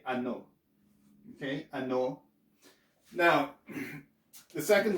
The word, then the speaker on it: ano: Okay, so we don't pronounce this as A, so you won't say ano, and the O is shorter, so it's not going to be ano, it's ano.